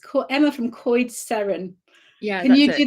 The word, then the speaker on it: Coed Seren: It's Emma from Coed Seren. Yeah. Can you do the special sound in the middle, the special R that I can't do? I actually can't roll my R's either, but it's Coed Seren.